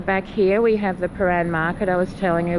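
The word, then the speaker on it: Prahran: if you notice here how the word pan is spelled and I'll take you for a closer look look is one of our silly words so pan is spelled p r a h r a n so there we go it's not such a um a simple spell and when I had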